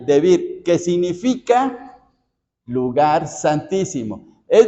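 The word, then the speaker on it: דְּבִיר: hebrea que se pronuncia debir debir así con el acento en la i debir que significa lugar santísimo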